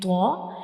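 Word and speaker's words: طاء: When we pronounce tho, the tip of the tongue will touch the gum of upper 2 front teeth.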